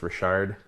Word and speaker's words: Richard: Louisiana it's weird if if your last name is Richard it's pronounced Rashard oh it's like really